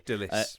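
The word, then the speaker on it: Dilys: Dillis Price, or Dulles Price. I'm not entirely sure how you pronounce that, actually. Dillis. Dillis, okay.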